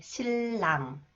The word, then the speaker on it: 신랑: see some example sound When The final consonant neon is followed by new is pronounced lear 오케이 실랑 실랑 질로 진로 인류